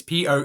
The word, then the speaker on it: Poelchau: We've got Dorothy, I think, Polchau. I think that's how you say it. It's Poelchau. And Harold Polchau.